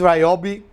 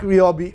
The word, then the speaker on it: Ryobi: project so i like ryobi or iob tools i was recently told it was ryobi not ryobi i've called them for a long time ryobi but ryobi is apparently the correct pronunciation let me know in